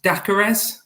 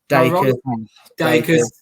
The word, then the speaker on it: Dakers: Solomon Dakares. Dakers. I knew you had Scott about this, and I was like, I've got to get it right. I don't know what's hard about this. Solomon Dakers.